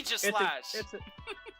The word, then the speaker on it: Aegislash: Everybody mispronounces this Bond's name, and it annoys me, but maybe I'm just the weird one, but whatever. It's Aegis. Yeah. Aegislash.